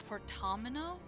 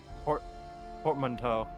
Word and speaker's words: portmanteau: that is rather ludicrous portamino? Portmanteau. Portmanteau. I know it was French, I just didn't know how to pronounce it.